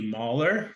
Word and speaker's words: Moller: Today I'm joined by Hayley Moller, rhymes with collar, of Thallo, who was part of the founding team of Thallo, and she's located in Paris.